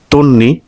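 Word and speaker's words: তন্বী: জয় ধ্বনি জয় ধ্বনি তন্নি দন্ত নয় বয় তার মানে ব ফলা যদি থাকে তাহলে সে ব ফলার কি হয় যে বর্ণের সাথে থাকে সে বর্ণের দুইবার উচ্চারণ তার মানে তন নি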